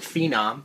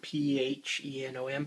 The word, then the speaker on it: Phenom: i purchased a amd i guess you pronounce it phenom p h e n o m phenom uh quad four